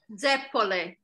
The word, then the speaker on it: zeppole: Teresa, is it Zappole? Zappoli? I'm not sure if I'm pronouncing it right. Basically, it's deep fried choux pastry, Italian donuts. Zeppole. Zeppole, there you go, the correct pronunciation.